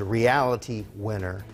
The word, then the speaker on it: Reality Winner: Her name is Reality Winner. That is the correct pronunciation of that name.